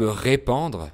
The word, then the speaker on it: répandre: Donc entre les 2 verbes, on a « répandre » avec « an » et « répondre » avec « on ».